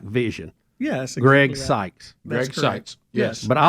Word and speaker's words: Seitz: like I'm looking like Vision yeah ex Greg seses yes but I like saying syes it's easier I know you I think you